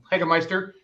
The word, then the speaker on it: Hagemeister: bottom right, and then Hagemeister, or Hagmeister. You said it right the first time. Okay, Hagemeister.